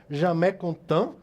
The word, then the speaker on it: Jamais Contente: carro elétrico o belga jammeh contam segundo a pronúncia que o professor márcio me ensinou aqui né você pode até da forma que escreve eu jamais contente que é isso mesmo